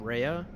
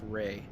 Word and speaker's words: REA: I've always said Rhea, but I've been told recently that it's actually pronounced Ray.